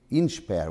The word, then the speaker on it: INSPER: Think of inspire and say INSPER.